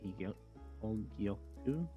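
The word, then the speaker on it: Hōgyoku: Higyoku? Yeah, the pronunciation's on the right. Thank you. It breaks barriers, but while the Hogyoku breaks the barriers between Shinigami and Hollow, this breaks the barriers between time and space.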